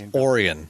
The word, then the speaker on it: Orion: where the uh and it's orian not Orion or sorry orian orian plant I you know pronounce things weird here in Michigan I I went to